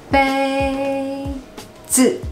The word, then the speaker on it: 杯子: 第二个杯子杯子杯子 So the first tone is relatively high, like you are singing, and you cannot drop it, okay? 杯 a, a, a, like you're singing. 杯子 The second word is neutral, so it just drops.